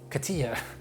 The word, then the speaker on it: cotija: are making our own kotiha cheese is that how you pronounce it cotija hey google how do you say kotiha cheese that's pronounced katia according to google katia we are going to